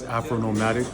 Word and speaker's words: Afronomadik: So yes, you did say the name right. It's Afronomadik, but it's spelled with the K at the end.